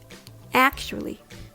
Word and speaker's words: actually: First of all, it starts with ack. Then the CH sound ch. Or you can even replace it with SH sound sh.